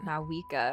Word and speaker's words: Mavuika: I think you and actually eventually don't arrive at a pronounce very V. I different think you just have to say it like destination. Mavuika.